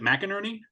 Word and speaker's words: McInerney: I always have trouble with those is it mcinerney yes okay for palm trees and power lines